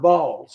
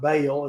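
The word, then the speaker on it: Baal: of Yahweh and sered balls I've learned that it's not Bale it's supposed to be pronounced ball and that's a hard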